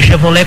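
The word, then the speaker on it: Chevrolet: v r o l e t que se pronuncia chevrolé com temudo né Então tá escrito aqui o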